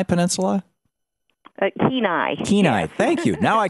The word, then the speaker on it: Kenai: Is it called the Kenai Peninsula? Kenai.